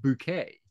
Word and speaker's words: Bucket: excuse me bouquet and her surname is spelled bucket bucket but because she has delusions of a higher Social Status she insists on being called bouquet right right and she